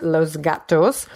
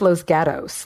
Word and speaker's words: Los Gatos: words here in California, it's not pronounced Los Gatos. It's pronounced Los Gatos, like that's how it's pronounced here.